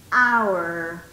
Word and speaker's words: hour: Hour. Yes? Hour. So, an hour. Como el sonido es de una vocal, usted va a utilizar an. An hour. Yes? Because the H is silent.